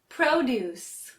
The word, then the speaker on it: produce: focusing on today is produce which emphasizes the first syllable Pro and means fruits and vegetables this is often used in grocery stores when shopping let's practice now produce produce produce produce how